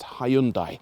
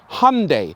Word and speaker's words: Hyundai: In America, they still say Hyundai, like Sunday, apparently, but yet in the UK, we got to say Hyundai, because that's the proper way to say it.